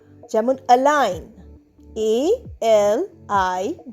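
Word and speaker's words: align: এই এলাইন শব্দতে কিন্তু জি সাইলেন্ট।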